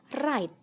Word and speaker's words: write: Sekarang ini kata yang kedua yaitu write. Artinya menulis ya. Ternyata pengucapan yang benar adalah write. Jadi huruf W-nya itu dihilangkan ya teman-teman.